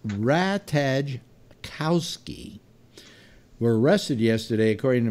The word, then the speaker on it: Ratajkowski: to can't pronounce on it's a rat hedge Kowski were arrested yesterday according